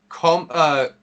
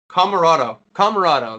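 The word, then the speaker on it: Comoroto: Next match is Jon Moxley versus Nick Koromoto. No. Camarado. That's how you pronounce it.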